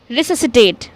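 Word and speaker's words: resuscitate: रिससिटेट। रिससिटेट में हम क्या कर रहे हैं? एस और सी अगेन साथ में आ रहा है तो हम सी को प्रोनाउंस नहीं कर रहे हैं।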